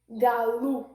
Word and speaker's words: galo: Pas il y a des gens qui prennent le bateau pour ça. Donc, ou grand monde ou fait sauver. Mais sauf que, dans la règle grammaticale là, dans le bon genre portugais, c'est comme OU il prononcé.